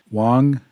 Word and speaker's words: Wang: Wang is pronounced like Ong in wrong, and the X in Xiao is pronounced similar to something between S and Sh.